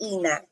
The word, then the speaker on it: Enha: Yes, but it's pronounced Ina.